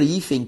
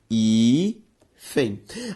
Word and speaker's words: hífen: A palavra hífen, quando separada, veja só, hífen. A sílaba tônica de hífen, i. E hífen, pessoal, termina em com N. Não é em com N. Tudo bem? Por isso que hífen deve ser acentuado.